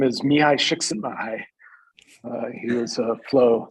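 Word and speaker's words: Mihaly Csikszentmihalyi: the book of 1990 uh making sure can pronounce it for us yeah uh he uh his name is miyai shiksenbai uh he was a flow psychologist a flow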